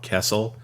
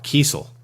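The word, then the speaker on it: Kesel: I thought uh it was Carl kessle and it wasn't until we were uh talking to I think it was uh shoot it wasn't it was either Dan Jurgens or Tom grommet who said it was Carl Kel and we were frantically texting each other Orin and I and Mike back you know kind of behind the scenes like holy crap it was Kel this whole time so yeah well I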